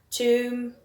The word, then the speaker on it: tomb: Then words that end with a silent letter, we've got tomb, we've got thumb, womb, bomb. Then we have dam, hem, column, and autumn. So common letters there, it's the N at the end and the B at the end.